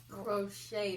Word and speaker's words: crochet: We got a little crochet needle. Crochet, the T is silent.